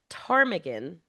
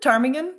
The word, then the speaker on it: ptarmigan: to know why does ptarmigan start with a P? Nobody really knows. It is weird, isn't it? Ptarmigan. Ptarmigan. You never pronounce the P, but it's there.